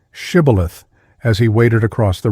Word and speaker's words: shibboleth: The Ephraimites were as unable to frame the sound of sh as Englishmen are to pronounce the Scotch och. The nearest they could come to the pronunciation was sibboleth.